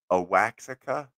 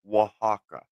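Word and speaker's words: Oaxaca: um spelled like you might want to say a waxa or something oh it's actually pronounced Waka yeah Waka o a x a yeah something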